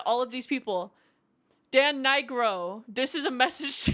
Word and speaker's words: Nigro: Oh, I thought you were saying it wrong. No. No, that's how it's pronounced. But okay, so yeah. That's our next goal, guys. We need to get Dan Nigro to hear me sing,